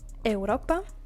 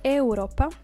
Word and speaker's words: Europa: Europa. Europa is Europe, written the same but pronounced differently.